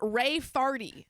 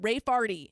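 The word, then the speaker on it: Raefarty: My sister wants to spell it Ray Farty. No. R-A-E-F-A-R-T-Y. Ray Farty.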